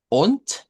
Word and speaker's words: und: Und, que se pronuncia con T, es I.